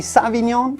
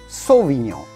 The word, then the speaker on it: sauvignon: grape variety cabernet sauvignon many people do say savignon it's better to say cabernet sauvignon a u in french sounds like the letter o so do say cabernet sauvignon then comes chardonnay i'm